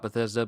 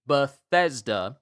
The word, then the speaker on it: Bethesda: I want to talk about Bethesda, but now's not the time.